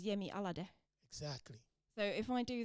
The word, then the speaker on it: Yemi Alade: what I've realized is if I approach it from the finished pronunciation I get a lot closer oh is it yeah yeah because in Finnish you would just read it as it is so you would read it as yemi alade exactly so if I